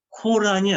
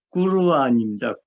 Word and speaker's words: 꾸르안: 그러면은 그래서 코란도 코란이 아니죠. 오가 없는데 오 발음을 쓴 거 아니에요. 영어식으로. 꾸르안입니다. 꾸르안이 아랍어 정확한 발음이에요.